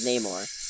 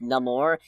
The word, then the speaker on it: Namor: by Namor the Submariner not that he's called the Submariner but he is called Neymar actually he calls himself Namor and then everybody insists on mispronouncing it which is kind of